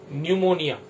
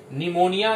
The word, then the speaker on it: निमोनिया: न्यूमोनिया, न्यूमोनिया बोल रहे हैं मगर सामने पी लिखा हुआ, याद रखेंगे, साइलेंट होता है न्यूमोनिया। निमोनिया ये बीमारी जो है,